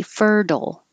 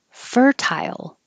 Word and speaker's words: fertile: a d and say fertile or keep the t fertile and i made it tile because when you say tie your tongue goes very high and then it slides down for the y tile fertile the same as versatile or versatile oh this is here